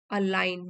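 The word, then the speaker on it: align: generally intentional इरादे के साथ डन ऑन पर्पस जानबूझ के किया हुआ अलाइन मींस मेल खाना अलाइन जी साइलेंट है टू ब्रिंग इंटू एग्रीमेंट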